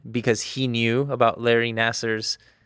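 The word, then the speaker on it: Nassar: Nasser.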